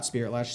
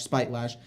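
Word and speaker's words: Spitelash: the spirit latch siren not spiritlash spite lash always say it wrong um spell a coiler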